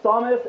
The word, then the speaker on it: Samus: No, but canonically, it's Samus and Mario, because the characters have had dialogue in the game.